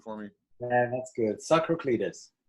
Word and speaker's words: Tsakraklides: So we are on with Tsakraklides. Am I pronouncing it right? Can you pronounce it for me? Yeah, that's good. Tsakraklides. Tsakraklides.